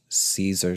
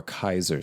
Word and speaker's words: Caesar: I had a good-sized Caesar salad, or Kaiser salad, if you want to pronounce it correctly. Yes, Caesar, like Julius Caesar, that word is actually pronounced Kaiser.